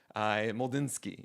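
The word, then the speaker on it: Mlodzinski: Moldinski. Yes. ML M L O D Z I N S K I just in case you don't know what that pronunciation is.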